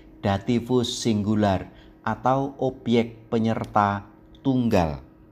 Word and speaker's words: dativus: akhiran pelengkap penyerta ini dinamai dativus ingat baik-baik pengucapannya dativus Sekarang mari kita perhatikan baik-baik beberapa catatan Ini